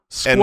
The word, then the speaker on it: squirrel: Say this word squirrel. And really squirrel.